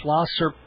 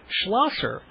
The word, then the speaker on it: Schlosser: name I mean if you read it it's the Sha first and the S so it's technically it's schlasser but you've pronounced it